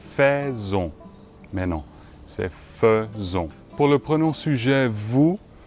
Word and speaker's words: faisons: ça devrait être fait long mais non c'est faisons pour le prenons sujet vous c'est aussi régulier